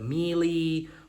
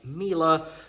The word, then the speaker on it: Miele: Um I know I used to pronounce it quite wrong. I believe I said Milie, Mila, Milo, but as I've been told, these are pronounced Mila.